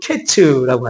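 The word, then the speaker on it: קֵץ: 그리고 끝 이이이 뜻이 이제 히브리로 캐츠라고 하죠. 그러니까 케이츠와 캐츠가 비슷하잖아요. 그 발음이.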